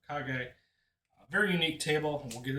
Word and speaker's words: Kage: So that is how you say Legend of Kag.